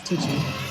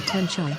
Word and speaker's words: Tiji: In the Mustangji Lobo dialect it is pronounced as Tiji, or Tenchai, and is a part of the meditation practice based on the Tantra texts related to Vajrakila.